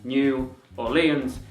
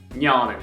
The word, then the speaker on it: New Orleans: That's how the locals pronounce it. It's one word, it's not New Orleans, it's like this, New Orleans. That's pretty much how they say it.